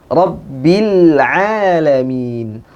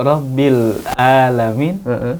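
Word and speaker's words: العالمين: Rabbil alamin. Rabbil alamin. Di sini ain suka juga sering diganti dengan hamzah.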